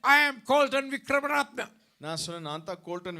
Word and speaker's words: Colton Wickramaratne: I said, I am Colton Vikramaratna.